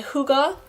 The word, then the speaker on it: Hygge: And we are reviewing this book, which is my Hygge, that's how you pronounce that, Hygge Home by Mick Viking, and it's 2022.